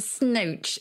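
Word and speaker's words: snoach: And to snooch is to speak through the nose.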